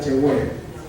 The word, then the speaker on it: Yahweh: la H, W, H, donde se pronuncia la palabra Yahweh, y en hebreo ya transliterado Yahvé, se presenta al Dios poderosísimo.